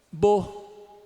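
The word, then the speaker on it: beaux: Mas sabe como é que é a pronúncia disso aqui? Foneticamente, se eu fosse captar foneticamente, seria isso aqui, ó. Falem para mim. Bo. É isso aí, bo. Então, né, um lugar bonito, né?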